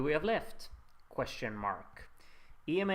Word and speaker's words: EMA: have left question mark EMA is pronounced like the name Emma okay we calling it Emma